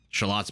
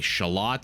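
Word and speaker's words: Xolotl: they can build a shallot I believe it's pronounced x-o-l-o-t-l x-o-l-o-t-l yes is the way you spell it but I believe the x is a soft shush sound and this is what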